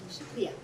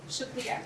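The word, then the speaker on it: शुक्रिया: Shukriya. Shukriya.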